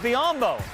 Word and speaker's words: Biyombo: What rhymes with Biyombo? Mutombo. You got it.